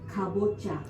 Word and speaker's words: kabocha: Kabocha.